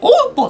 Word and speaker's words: OPPO: で次がえオポていうらしいですね OPPO ってやつねこれオーポって読むらしいんですね OPPO モバイルっ